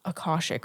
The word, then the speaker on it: Akashic: Some people say Akashic Records. I tried to like look up pronunciation because you know I'm bad at this. Right. And what I found is Akashic Records.